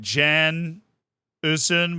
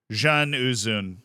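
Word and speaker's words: Can Uzun: I majored in Ottoman history, and the way it was explained to me is that C is pronounced like a DJ. So it's like, not just straight up Jan Uzun, but like a Jan Uzun.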